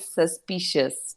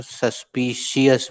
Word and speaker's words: suspicious: A guilty mind is always suspicious। ये उच्चारण सुनने को हम तरसते हैं, लेकिन अधिकतर बच्चे उसकी स्पेलिंग की नकल करते हैं और सस्पिशियस बोलते हैं।